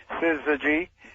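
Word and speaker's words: syzygy: R, but uh actually I I put it phonetically at the on the header of my newsletter so that people uh first time through they uh they often pick it up. Siz G.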